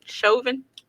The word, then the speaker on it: Chauvin: asian folks okay so how you pronounce his name look derek shoving chauvin yes okay so he was